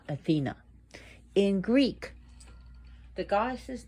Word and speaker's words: Athena: Why do I say the name Athena and not Athena? In Greek, the goddess's name is pronounced Athena. Emphasis on the A.